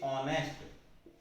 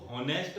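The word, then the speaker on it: honest: बोलते हैं इसे, और इसे कहेंगे ऑनेस्ट। अब यदि आप इसको एच के हिसाब से लगाते हैं तो इसको होनेस्ट पढ़ते, आप इसको पढ़ते हवर, लेकिन इसमें है की आवाज आती ही नहीं है की आवाज साइलेंट हो जाती है।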